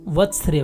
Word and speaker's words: वर्त्स्य: इसके उच्चारण में पहले व फिर आधा त आता है। जहाँ कहीं आधा अक्षर की बात होती है, इसका मतलब वहाँ केवल व्यंजन बोला जाना है, उसके साथ कोई स्वर नहीं बोला जाएगा।